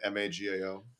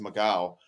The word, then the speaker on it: Magao: was from Portugal, and it was technically pronounced Magao. But over generations here, somehow it translated to Magao.